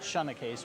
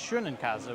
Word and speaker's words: Schoenekes: And in fact, my last name, we pronounced it Schoenekes, but in German it's Schönenkäse, which translates to beautiful cheese.